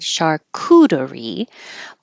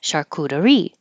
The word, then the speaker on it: charcuterie: Now, this I found out I have been putting stress on the wrong syllable, or maybe the syllable that a lot of Americans use, because I always said charcuterie, but the dictionary says it's charcuterie, charcuterie.